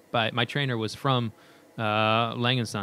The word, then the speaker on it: Lange: to try and pronounce, Lange & Söhne. Is that about right? Yeah, that sounds fine. Lang, just Lang. Yeah, I say Lang. And that's okay.